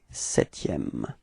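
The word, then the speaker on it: septième: repeat okay and then keep in mind that you don't pronounce this P okay setm all right repeat okay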